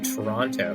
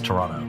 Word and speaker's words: Toronto: capital of Ottawa and you were the only person I've ever known from Toronto to pronounce that second T I know almost everyone I know always says Toronto I know Toronto and that's in fact the right way to pronounce it and I get a